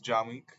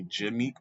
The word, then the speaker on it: Jahmeek: So, my name is Jahmeek. Jahmeek. Jahmeek. Now, all my life, people's always made a mistake of calling me Jameek by accident, but I prefer when they call me by how it's pronounced. Jahmeek.